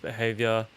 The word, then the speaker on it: BHVR: Yeah, BHVR is pronounced behavior.